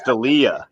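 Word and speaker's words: D'Elia: Delia was uh his Eminem impersonation oh Chris Delia yeah that's how you say it okay I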